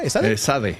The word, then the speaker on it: ESADE: de posgrado en prestigiosas instituciones como, ¿cómo se pronuncia esa? Esade, esade, esade, business school.